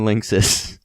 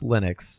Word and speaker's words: Linux: cancelled for mac and lynis oh no by the way it's pronounced Linux Linux whatever no sorry I